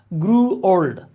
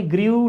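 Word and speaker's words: grew: এইবার আপনারা বলেন আমাকে এক নং প্রশ্নের উত্তর গ্রড দেখেন আমরা অনেকে এইযে আরই ডবলিউ গ্র উচ্চারণ করি এটার উচ্চারণ হচছে বিশ্বাস না হলে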